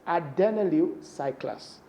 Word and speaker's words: adenylyl cyclase: When adenyl cyclase is activated, this pronunciation, you need to be very careful the way you pronounce these words. It's adenylyl cyclase.